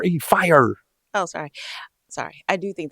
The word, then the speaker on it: Fyre: Why do you keep saying fry? I don't know. It's not even spelled like a fry. It's Fyre. Fire.